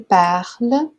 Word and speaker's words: parles: Aqui a gente tem um S a mais, que não é pronunciado, aqui a gente tem o ENT, que não é pronunciado, então é isso mesmo, tá certo?